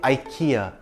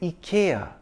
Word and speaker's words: IKEA: I say IKEA. Everyone I know says IKEA. The Indian ads and the American ones say IKEA. But interestingly, the UK ads say IKEA, which is closer to the Swedish pronunciation. So if we want to say it the authentic Swedish way, we can say IKEA. Or we can say it like the American and Indian ads, IKEA. I'm going to stick with IKEA, except when I'm in Scandinavia.